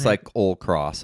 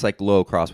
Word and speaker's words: cyclocross: It comes out as cycle cross many times, but it's cycllo cross with an O in the middle.